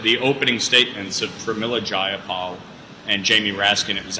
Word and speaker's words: Jayapal: Well, first of all, if you heard the opening statements of Pramila Jayapal and Jamie Raskin, it was absolutely outrageous. That's how you pronounce it.